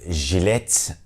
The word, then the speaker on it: jilet: Then the letter J is pronounced J in Turkish. As you can hear, it is the J sound as in genre. For example, in the word jilet, which is razor in Turkish.